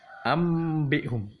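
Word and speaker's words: أَنْبِئْهُمْ: Tapi bunyinya huruf mim. Bagaimana bacanya? Ambihum, ambihum ya. Ambihum. Ada celah sedikit ya, celah sedikit. Memang ini perlu latihan ya.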